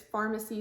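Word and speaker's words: Farmacy: hydrating ceramide moisturizer and it's pharmacy spelled like f-a-r-m pharmacy this was sent to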